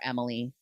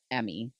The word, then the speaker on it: Emmy: Kept calling her Emily instead of Emmy.